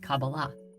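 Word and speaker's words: Kabbalah: in the Hebrew alphabet these four letters together are pronounced cabala however the most common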